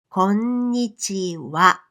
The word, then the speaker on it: こんにちは: こんにちは with ひらがなは even though we pronounce the phrase こんにちは. Why? Because this wa in this particular phrase is a particle.It is the same word that you use when you say something like this.